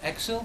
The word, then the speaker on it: Exil: So you released from Exil, is that how you pronounce it?